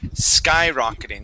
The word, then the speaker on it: skyrocketing: The word is skyrocketing with the accent at the very beginning of the word.